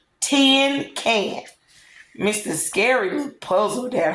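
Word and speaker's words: cinquain: jumped right up T can she shouted is pronounced 10 can she grinned real delighted I know it's 10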